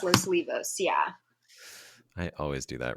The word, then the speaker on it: Los Olivos: in Los Olivos District right yeah losos it's pronounced Losa Leos right it's pronounced Los Leos yeah I always do that wrong um and